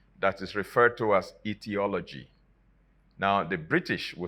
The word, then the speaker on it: etiology: start with e but both of them are pronounced the same way etiology now etiology is